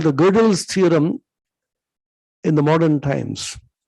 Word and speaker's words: Gödel: powerful theorem called the Gödel's theorem in the modern times. It is Godel, pronounced as Gödel or Gödel.